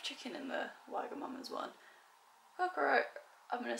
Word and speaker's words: Kokoro: and we ordered a, I don't know how you pronounce it, Kokoro? Kokoro? I think it's Kokoro.